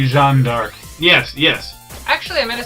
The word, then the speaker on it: Jeanne d'Arc: So it's like, okay, so we shouldn't be saying Joan of Arc, we should be saying Jeanne d'Arc.